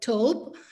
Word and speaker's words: thawb: have this glossary, because thobe in the UAE, it's pronounced thobe. In Palestine, they call it tobe. In Sudan, they call it tobe. In Iraq, they call it thobe. So it varies in the way it is pronounced and it is written from one area to the other, as well as in